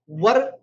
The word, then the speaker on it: were: मैंने सुना है कि बहुत लोग इसको वेयर पढ़ते हैं, दैट्स रॉन्ग. सो वेयर का मतलब पहनना होता है, WERE को हम वर पढ़ते हैं. इसका सही प्रोनाउंसिएशन वर होता है. अगर आप वेयर पढ़ते हैं तो आप इसको सही कर ले, करेक्ट कर लें.